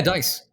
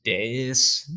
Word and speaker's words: Deiss: I pronounced it Deiss, as in rolling the dice. Yeah, Deiss. Yep, Deiss, exactly. But it's spelled Deiss. So it's pronounced Deiss, Diaz.